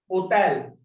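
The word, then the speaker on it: hôtel: Hotel. Hotel is hotel. We are not pronouncing this H. Ash. Because this is silent.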